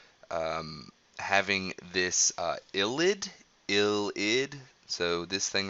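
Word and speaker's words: ylide: hinges on what um having this uh illid ill ID so this thing right here is spelled y l i d e but it's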